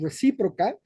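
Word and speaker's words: Recíproca: And investors is a very plural set for us, because we are creating precisely an investment fund called Reciproca, with the accent on the I, and the accent for us in everything we're doing means awareness.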